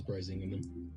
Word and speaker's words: Brisingamen: Yeah, it is Brisingamen.